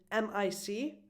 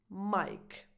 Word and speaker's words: mic: Just like with vegetable, microphone, if you only read M-I-C, you pronounce it mic. I know it's a little bit weird, but the pronunciation of this abbreviation is mic, just like the name Mike.